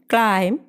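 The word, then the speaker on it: climb: ഉദാഹരണമായി ബി എന്ന ലെറ്ററിൻ്റെ കാര്യം എടുത്താൽ ബിക്ക് പിന്നിൽ എം വരുമ്പോഴും ബിക്ക് മുന്നിൽ ടി വരുമ്പോഴും ബി സൈലൻ്റ് ആയിരിക്കും. എമ്മിൻ്റെയും ടിയുടെയും ഉച്ചാരണമാണ് അവിടെ വരിക. എക്സാമ്പിൾ നോക്കിയാൽ തം, ക്ലൈം, ഡാറ്റ്, ഡൗട്ട് എന്നിങ്ങനെ.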